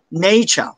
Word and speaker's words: nature: করবে সবাই বলো everyone British accent R silent but American accent ঠিকই থাকবে ওকে সবাই বলো নেচার ফাইভ টাইম এভরিওয়ান সে